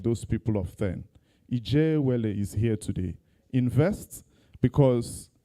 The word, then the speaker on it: IJEAWELE: MC, we need to teach you how to pronounce our name well. It's IJEAWELE.